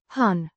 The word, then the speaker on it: hän: Person singular pronoun pronounced han with a short clear sound means was thed sing